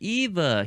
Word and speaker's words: Eve: Because when Wally says her name, I think she says it's Eve, but he makes it sort of sound like Eva. He puts an sound at the end of it, and I'm gonna apologize.